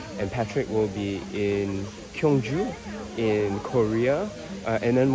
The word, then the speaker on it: Gyeongju: So don't say it wrong, because it's Gyeongju.